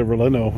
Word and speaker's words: relleno: They got a, look, I always say it wrong, chili relleno?